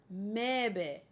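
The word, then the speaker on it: Möwe: It's German. It means seagull and is pronounced Mebe.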